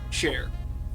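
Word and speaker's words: chat: It looks like share. Okay. How do you pronounce it? Che. Che. Is that right? It's shop. Sha. Shop. Sha is Cher.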